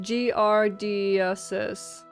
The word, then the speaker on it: giardiasis: Pronounced giardiasis.